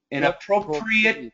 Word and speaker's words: inappropriate: inappropriate very good and it's not preate it's preit this is an adjective inappropriate Footwear no appropriate Footwear